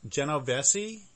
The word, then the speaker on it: Genovesi: i should start over is your last name pronounced Jenna Bessie yes correct okay so I'll start